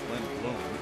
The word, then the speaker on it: Lindblom: Correct that pronunciation. It's Lindblom.